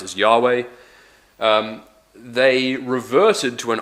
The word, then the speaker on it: Yahweh: YH wh or yod Val which which we pronounce as Yahweh um they reverted to an older form of